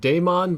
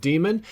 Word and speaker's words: Daemon: I know a lot of people would say the word Daemon, but that's kind of an older spelling of it. It's pronounced Demon, and 3XB as in 3-round burst.